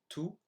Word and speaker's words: tout: So here are the 8 words I mispronounced. So I should have said the second time traverser, dans, tout, Afrique, chameau, serait, génial, nul.